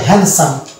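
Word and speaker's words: handsome: সেটা হবে ভুল উচ্চারণ সুতরাং আমরা এটাকে উচ্চারণ করবো হ্যান্ডসাম অর্থাৎ এখানে ডি কে আমরা উচ্চারণ করবো না এই যে ডি কে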